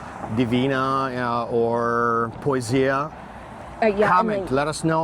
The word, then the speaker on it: Poesia: We're talking about the Poesia because now he's going to Alaska, right? Right, but I think how do you pronounce it? Poesia? Poesia, that means a poet.